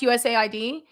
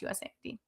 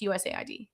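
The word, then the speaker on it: USAID: First off, I know it's pronounced USA ID.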